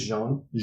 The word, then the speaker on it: Jean: That was from one John R. Rader. Mm-hmm. If I got your name wrong, it's Jean. Jean. Yeah, yep. John R. Rader. Yeah, like the French.